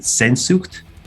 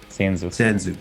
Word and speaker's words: Sehnsucht: But is it Sehnsucht? Is that how you pronounce it? Sehnsucht, sure.